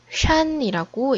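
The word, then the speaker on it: 山: 이 글자는 중국어로는 샨이라고 읽어요.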